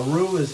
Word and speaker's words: roux: it will create a roux which is a roux it's spelled r-o-u-x and it's a thickening agent so